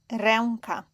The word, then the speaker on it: ręka: Before a consonant it is pronounced as en. When it is the final letter, it is pronounced like the e in bed. And the example here is ręka.